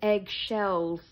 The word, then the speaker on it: excelsis: Yeah, Margie taught us it's not, well, we really don't know what they're saying, but she told us to pronounce it eggshells, Deo. Eggshells. Yeah, like eggshells.